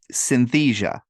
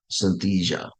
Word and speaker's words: Synthesia: you David the Avatar I don't know how you say it I you know my Southern accent won't let me say it it's s s y n t h s i a Synthesia Synthesia so anyway the nice